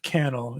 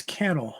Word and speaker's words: Cannell: I think it's Cannell. I think it rhymes with panel. I've heard it pronounced both ways, but I heard him pronounce it Cannell.